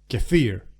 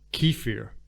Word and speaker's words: kefir: to turn it into cafir English speakers May pronounce that Keir because you know why not and this is